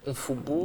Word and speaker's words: Mfoubou: Mfoubou. Mfoubou. Mfoubou. On prononce le M.